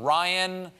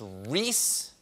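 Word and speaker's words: Rhys: I mispronounced his name. I called him. I believe I called him Ryan McClanahan. Yeah, it's Ryan. His name is not Ryan. It's Reese. It's Reese McClanahan.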